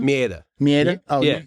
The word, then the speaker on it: Maeda: Mieta. Mieta? Oh, Yeah. you got it with a little accent. You say it the right way. I'm like Maeda, right?